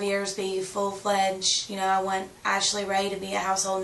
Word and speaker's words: Ashlie Rae: It's Ashlie Ray, but it's spelled weird. It's ASHLIERAE.